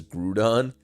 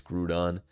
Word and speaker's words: Groudon: Correct pronunciation is Grudon. out of here. No way. It's Grudon.